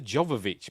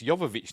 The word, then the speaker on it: Jovovich: there by Miller yovich I've always called Jovovich but I know it's yovich now because she actually says a name in the film as we'll see anyway